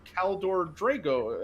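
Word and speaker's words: Kaldor Draigo: the extremely infamous character caldor drago i think if i'm pronouncing it correctly you are correct yes mary sue one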